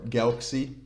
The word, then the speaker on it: Galxe: which we'll talk about the Galxe token or Galxe, which is, I'm pretty sure you pronounce it like that, but ever since they changed the name, I'm not 100% sure. Galxe it is. I think it's just a kind of a play with Galaxy, right?